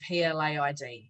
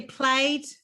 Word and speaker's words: plaid: But I cannot stand that word PLAID. So and also I didn't know how to pronounce it. I thought it'd be played. Yeah. Plaid. So I was gonna release this dress, or this dress actually.